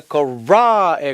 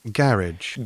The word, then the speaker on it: garage: 중요한 건 어쨌든 garage이거나 garage이거나 둘 다 액센트가 앞으로 온다라는 거. 미국 발음일 때는 액센트가 garage에 가고 garage, 이런 차이가 있습니다.